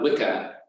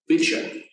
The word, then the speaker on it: Wicca: with the Old English, the term would have been pronounced not Wicca, but Vicha.